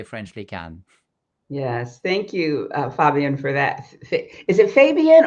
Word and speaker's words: Fabien: Yes, thank you, Fabien, for that Is it Fabien or Fabien? Fabien.